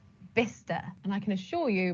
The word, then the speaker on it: Bicester: great designer outlet we love going there it's vista vista and i can assure you before that designer outlet was built i was calling it bicester so you're not alone number three how do